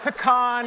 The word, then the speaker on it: pecan: you very much let the record show that pecan is the correct pronunciation of the nut we have them in